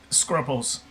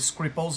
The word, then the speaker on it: Scruples: Oh, he he wanted to be called Scruples. Yeah. Okay. And he was he so pedantic he would correct the name if someone said it wrong. It's not scripples, it's scrpples, it's it's scruples.